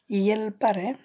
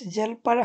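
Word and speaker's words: hjälpare: এখানে একটু লক্ষ্য করবেন, এইচটার উচ্চারণ তার অনেকটা ই পড়ে, সো এখানে হেইস জেলপারে হবে না, এটা হবে ইয়েলপারে, রস্বইয়ের মতো অনেকটা, ইয়েলপারে।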